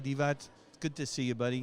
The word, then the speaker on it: Divac: 40 35 years yeah he said the sea is not a c exactly no that's I remember